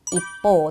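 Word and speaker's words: 一方: 하행 앞에 치가 왔네요. 그럼 이치를 초금으로 바꾸고 여기에 반타금을 붙여서 이보라고 읽어야 되고 이게 한편이라는 표현이 되겠습니다. 입보 또는 입보대의 형태로 사용을 해 줄 수가 있겠죠.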